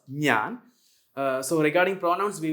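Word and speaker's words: ഞാൻ: Nan Manu okay so Nyan means of course the pronoun I we pronounce as Nan uh so regarding pronouns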